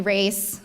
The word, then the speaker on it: Raisa: again my name is Raisa you can call me race for short some people can't get the first hump for the first syllable which was my struggle in college so if you ever